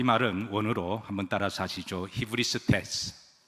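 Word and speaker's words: ὑβριστής: 히브리스테스. 발음하기가 조금 생소하시죠? 그런데 여러분 소크라테스는 잘 아시죠? 그래서 어떻게 하면 여러분들이 조금 더 친숙하게 이 단어를 기억할까 고민하다가 소크라테스, 히브리스테스 비슷하죠?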